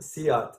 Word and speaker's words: SEAT: It's pronounced Seat, spelled Seat.